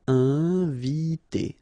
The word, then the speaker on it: inviter: Inviter. Okay, I-N together, nasal, inviter, inviter.